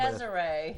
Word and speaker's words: Deziree: We have Kimberly, I don't know how to pronounce her last name. Deziree.